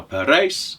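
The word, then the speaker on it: Parijs: the city of paris now per race is the flemish pronunciation for paris but as he said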